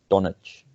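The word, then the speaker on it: Dončić: And I see the Mavericks have been doing pretty solid, thanks to Luka Doncic. I think Yeah, that's how you pronounce it.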